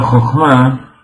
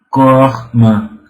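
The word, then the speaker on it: חכמה: Y así, en Kabbalah la palabra Jochma, que se escribe Het Haf Mem Hei, A ver cómo puedo hacer para escribir eso aquí. Entonces, Jochma, que se escribe, como ustedes ven aquí, Het, Mem, Het, Haf, Mem, Hei, explica el Zohar y trae los cabalistas que se puede leer como Koachma.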